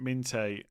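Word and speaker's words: Minteh: And they say that we should pronounce it Minte. Yeah, no, I've been told that before. I always say Minter.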